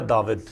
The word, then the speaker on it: داود: نظر آتا ہے کہ مقدس داؤد کا جو نام ہے عبرانی میں، اس کا تلفظ ہے داود، اور یہ تلفظ اعراب